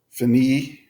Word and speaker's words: finir: at an IR verb phanie with meaning to end or to complete Fanny is a pronunciation for that so here we have